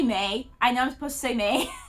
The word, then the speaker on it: Mai: By the way, I know I'm supposed to say May. Her name is spelled the same way as Mai Valentine, I think, from Yu-Gi-Oh! And so my brain just calls her Mai, even though I know she's May.